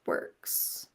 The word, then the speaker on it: WRX: for domain names which can be WRX pronounced works gotcha Tumblr pronounced Tumblr